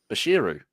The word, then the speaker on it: Bashiru: stuff how do you say fizz's last name bashiru there you go well Delhi bashiru sorry I